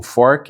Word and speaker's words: FoRC: O Fork. É essa essa pronúncia da sigla.